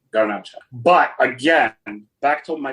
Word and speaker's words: Garnacha: And it's also planted in Spain known as garnaca. Garnacha. But again, back to my previous point, isn't gacha just garnash but pronounced Spanish way.